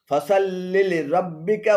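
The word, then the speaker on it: فصل لربك: আর শুদ্ধ পাঠ হলো ফসাল্লি লিরব্বিকা ওয়ানহার, ফসাল্লি লিরব্বিকা ওয়ানহার। এখানে ফসাল্লিলি এবং রাব্বিকা উভয় ভুল উচ্চারণ। শুদ্ধ উচ্চারণ হবে ফসাল্লি লিরব্বিকা, ফসাল্লি লিরব্বিকা।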